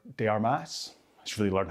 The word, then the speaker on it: de Armas: it be lovely if Anna de Armis um or de Armas she really learned how to pronounce her name if she is going to be the future Mrs.